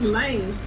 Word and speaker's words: Lang: Also, you did spell Lane's name wrong, but however you pronounce his name is whatever. Well, I thought it was Lane. No, L-A-N-G.